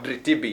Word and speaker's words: Dritibi: Dritibi. Have I pronounced it well? Yeah. Dritibi, yes. Dritibi, actually, yes.